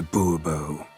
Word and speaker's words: Bourbeau: Monsieur de Bourbeau. The emphasis falls on the last syllable. Bobo?